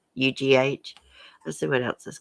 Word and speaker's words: Murdaugh: It was spelled like daughter. It's like Murdaugh.